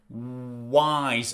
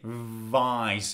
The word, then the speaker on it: wise: heard is wise wise pay attention to pronunciation wise I do not say Vice my lip does not touch my teeth that is V this is w and W is only with your lips wise say it with